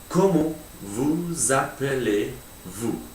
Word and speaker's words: Comment vous appelez-vous: Notice that between the vous and the appelé, there's an S which actually turns into a Z because it's got a vowel after it. Words in French have to link up if they've got a vowel after them, except for some exceptions.